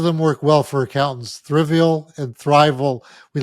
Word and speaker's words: Thriveal: And Thriveal is probably the best location for any firm. It's the word thrive and then AL, Yeah.